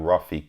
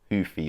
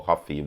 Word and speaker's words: Ruffy: Um, and where he is the shorter fighter who knows Mauricio Mauricio Rafi could I know I'm saying his name wrong. It's actually Hoofy or Huffy, however you say it. I've forgotten now.